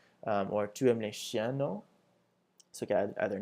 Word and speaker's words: non: So the response is oui, which is yes, no, which is no, and make sure you add the very faint N sound at the end. So it's not no like we have in English, it's no, no.